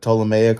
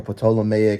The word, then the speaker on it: Ptolemaic: You know, it was the Ptolemaic or Ptolemaic, I've heard it pronounced both ways, dynasty where Europeans came in and, they took over and they were the ruling class, right?